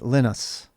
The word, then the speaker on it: Linus: guy is from finland and his name is pronounced linus and so that's why we say linux and